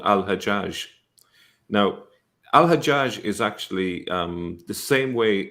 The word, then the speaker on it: Al-Hajjaj: Hagag is the Jewish version of that, and it's still pronounced that way, Hagag, in some Arab countries, such as Egypt.